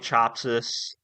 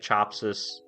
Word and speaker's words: Chapsas: Patrick God, Nick Chopsis. I think I'm saying his name right. I could be saying it wrong, but it's Nick Chapsas, and then Tim Corey.